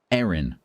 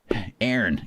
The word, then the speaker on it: Aaron: Aaron. They are two completely different names with two completely different pronunciations in British English. Aaron, Erin. Not in American English. In American English, they're identical.